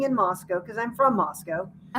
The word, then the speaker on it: Moscow: Moscow because I'm from Moscow and it's not there's no cow in Moscow. It is pronounced Moscow.